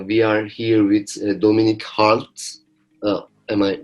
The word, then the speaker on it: Hartl: We are here with Dominik Hartl. Am I right? Hartl. Hartl. It's hard to pronounce.